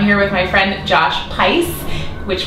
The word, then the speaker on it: Pais: with my friend Josh P which rhymes with spice I always want to call you Josh P Pace I always do it's